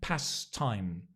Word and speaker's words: pastimes: hobbies you have or pastimes right you can say pastimes as well Hobbies or past times again notice the Past Times that t actually when we pronounce it we don't say it we're very lazy in